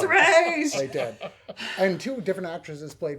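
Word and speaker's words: Ra's: mispronounced rae chalgool ghoul it is racial ghoul it's not ross it's race and two different actresses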